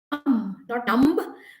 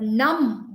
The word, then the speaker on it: numb: and values become not numb but numb with the new things